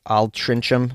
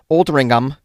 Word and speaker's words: Altrincham: I got an email from Sandy and Andy in the UK, and they were helping me pronounce words like Altrincham, which apparently is pronounced Altringham, and what I thought was mither apparently was pronounced my-the.